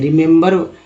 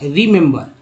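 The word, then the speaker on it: remember: अब देखिए तीनों का उच्चारण अलग हो रहा है, पहला ई का उच्चारण ई के रूप में, दूसरा का ए के रूप में, तीसरा का आ के रूप में हो रहा है। एक इसका उच्चारण एक्चुअली क्या होगा, रिमेंबर, रिमेंबर।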